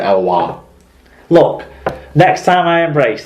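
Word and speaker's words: Eloi Pelissier: Elwar slammed it down.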